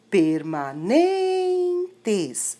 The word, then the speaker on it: permanentes: Permanentes é a sílaba NEM, N-E-N.